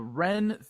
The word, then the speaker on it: Wren: the LA area the ren Theater which is spelled w-r-e-n the Wren theater presents Hollywood nerd nights